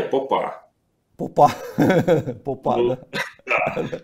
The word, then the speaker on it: Попа: Ну, вообще-то, как бы, если правильно ставить ударение, Попа.